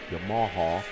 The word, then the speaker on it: Yamaha: the Bluff Racing Stockman Yamaha, or Yamaha if you're Alan Moffat. How's that go? Yamaha. You just emphasis the emphasis is on a different syllable.